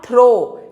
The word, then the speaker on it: through: Mind you, this is थ्रू, THROUGH। इट इज नॉट दो, THOUGH जो conjunction है, एंड इट इज नॉट थ्रो, THROW, थ्रो which is a verb. ये है थ्रू।